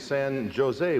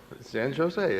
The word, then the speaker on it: San Jose: about the city of san jose which they had visited san jose and the guy says no no bill in california the the j is pronounced like an h and then he asked